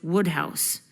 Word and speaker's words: Wodehouse: No, Wood pronounced Wodehouse.